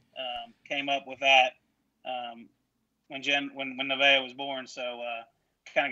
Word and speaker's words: Nevaeh: So it's Heaven Backwards, right? It is. It's Nevaeh. Nevaeh.